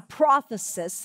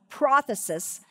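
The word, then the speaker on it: πρόθεσις: the transliteration for it it's a prothesis it would have the accent on the first syllable prophecies and it is a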